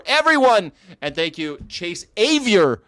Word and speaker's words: Avior: All right, guys, thank you so much for everyone, and thank you, Chase Avier. At least I've learned that. Like, it rhymes with bad behavior.